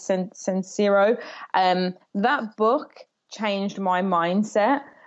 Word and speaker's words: Sincero: I can't pronounce her surnames. It's Sincero.